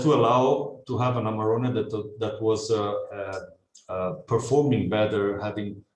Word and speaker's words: Amarone: So Amarone. Amarone, wow.